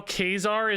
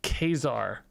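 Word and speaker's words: Ka-Zar: a lot of crap it's pronounced Kazar the the the the comic book he's from has a pronunciation guide in the back and it's Kazar and everybody's been giving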